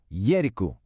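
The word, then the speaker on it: երկու: Yiku. This one is pronounced. Hear those two nice even syllables.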